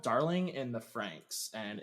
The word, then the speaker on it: Franxx: It's called Darling in the Franks, and it's Franks is spelled Franxx.